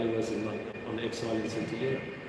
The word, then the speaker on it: St. Helena: was on exile in St. Helena. For the American audience and the Brits, that's St. Helena. The pronunciation a little bit different here.